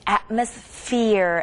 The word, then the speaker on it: atmosphere: and ph 발음 배웠잖아요. same thing atmosphere atmosphere ph도 똑같이 f 발음하고 비슷하고요.